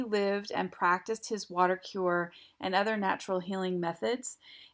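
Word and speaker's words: Kur: Throughout the town, there are many things called cure hotels. That's spelled K-U-R hotel, which are places of accommodation and healthcare treatment all in one.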